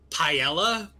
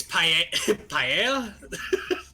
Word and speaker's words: paella: at me because I kept pronouncing it paella. It's paella.